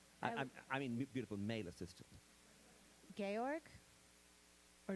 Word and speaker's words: Georg: Georg? Or George? I don't know how you Gorgeous pronounce.